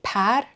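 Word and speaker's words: پَر: This can be par, feather, por, full. This can be babr, tiger, or the imperative, bebar, take it.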